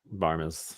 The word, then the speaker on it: Barmes: Is that how you say it? Barmes? Barmes. That's how I always said it. Oh, that's not an N?